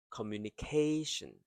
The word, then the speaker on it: communication: So the first 4 syllable is faster, K slows down, and then ending with shin. Communication.